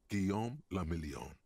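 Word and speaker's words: Guillaume Le Million: meant only one thing guillaume lamillion okay if it doesn't rhyme you're not pronouncing it right so wherever charles is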